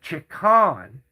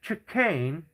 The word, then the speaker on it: chicane: I've never in my life heard anybody call it a chan. It's called a chicane and it's the most